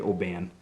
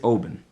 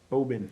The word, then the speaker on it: Oban: It's Oban. Oban. It kind of follows my New England rule where you just kind of really only give like 40% effort to the vowels and roll through them.